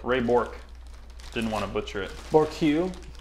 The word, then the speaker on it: Ray Bourque: Ray Bourque. Ray Bourque.